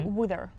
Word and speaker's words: her: You can you kind of don't really pronounce the h there. You say wither.